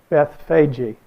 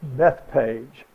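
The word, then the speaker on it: Bethphage: how you pronounce that if you said it in Greek it would be what you have down here Beth say Jay Beth fagi would be the name or you would pronounce it but the way we say it in English is just Bethpage and I wanted you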